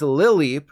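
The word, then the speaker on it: Lileep: jump is of course that's wrong instead it's Lil leap like you're taking a little tiny baby jump I swear the Pokemon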